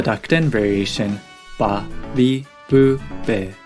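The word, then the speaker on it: べ: へ He with the dakten is pronounced be.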